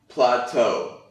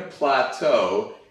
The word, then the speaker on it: plateau: this is an example plateau and that's why it's pronounced kind of a little bit strange based on how you'd uh see the spelling but if you hit a plateau it means that you